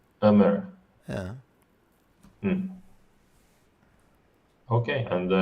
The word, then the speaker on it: Ömer: By their names, I guess Robert is Romanian, and Omer, it's pronounced the Turkish player name. Ömer. Ömer.